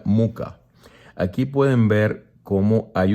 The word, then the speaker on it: Mucha: una variación de muca se escribe mucha pero se pronuncia muca aquí pueden ver como